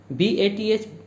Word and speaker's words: bath: BATH that has the pronunciation bath.